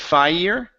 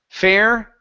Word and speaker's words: fair: and unfair so here instead of fire okay and unfer okay the word is a fair fair or unfair fair or unfair good